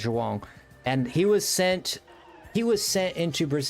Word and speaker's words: João: something, and he went, that's a Portuguese pronunciation. If you don't recognize the sound, don't worry about it. You can say João if you want, but the correct pronunciation in Portuguese is João.